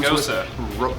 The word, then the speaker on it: Gose: let's go ahead and start off with the pronunciation which would be goes up Ron Gosa Rosa let's put a G in there let's